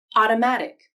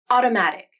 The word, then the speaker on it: automatic: The flap can take the place of a T or D when they occur between vowels, and the second vowel is in an unstressed syllable. This can happen within words like in automatic, wedding, and batter. I'll say these words again, both with the flap and without the flap. Listen to the difference in the T or D sounds.